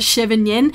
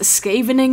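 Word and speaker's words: Scheveningen: been mispronouncing that word it is not chevin Yen I think it is skavening it green deep I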